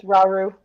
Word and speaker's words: Rauru: You being a sage, almost as powerful as Rauru. Is that how you say it? Rauru? Yes, Rauru.